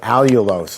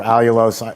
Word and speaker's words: allulose: with this i found this product it's called allulose it's spelled a-l-l-u-l-o-s-e and allulose works very well it's still not